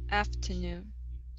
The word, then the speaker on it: afternoon: last one here uh instead of uh afternoon ah it's ah after afternoon afternoon okay stress at the very end afternoon afternoon good good